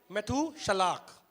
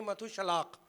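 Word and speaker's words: Methuselah: मैथूशलाख। मैथूशलाख। तो हिंदी में मैथूशला आया है, इंग्लिश में भी मैथूशला आया है, पर आप उसको प्रोनाउंसिएशन ऐसे करें मैथूशलाख।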